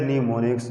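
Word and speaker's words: mnemonics: तरह, known as न्यूमोनिक्स, इट is pronounced as न्यूमोनिक्स, जिनको हम न्यूमोनिक्स बोलते हैं।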